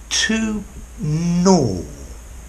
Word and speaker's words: gnaw: hi there students - no notice the pronunciation no the same sound as in neither and no yeah no and then it starts with a G okay - no means to